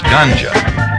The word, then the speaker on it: ganja: a second type of marijuana is known as ganja it's spelled g-a-n-j-a ganja has a high resin content